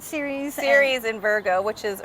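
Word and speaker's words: Ceres: right training um Cirrus how do you say it series series in Virgo which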